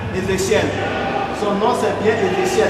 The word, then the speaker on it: Ézéchiel: Alors souvent quand on prononce, les gens pensent qu'on n'a pas prononcé. C'est Ézéchiel. Et mademoiselle Adjossan Nadège.